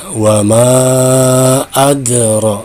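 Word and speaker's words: وما أدرى: Ya, berikutnya cara membaca ro patah, maka ini dibaca tafhim, tebal, ro, ya. Wa ma adra. Ya, jadi ro-nya dibaca tebal.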